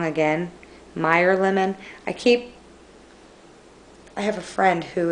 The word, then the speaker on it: Meyer lemon: And then Mayor Lemon. Oh my gosh, am I saying that wrong again? Meyer Lemon.